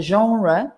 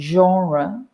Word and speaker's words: genre: the premiere like the genre both of those words come from french and we try in